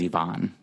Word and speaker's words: Ivan: Yeah, I think whatever way his wife pronounces it, that's probably the correct way. And I think she says Ivan. Okay. Yeah, I think that's the Russian pronouncing. Yeah. It's the most Russian sounding.